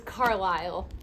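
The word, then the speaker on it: Carlisle: The S is silent as Okay. So, it's Carlile.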